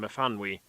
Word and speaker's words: Myfanwy: began with a lengthy paragraph about the correct pronunciation of the Welsh name Myfanwy, which had been given the infant Sally as her middle name.